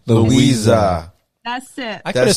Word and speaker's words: Luisa: Like literally, Louisa. Luisa.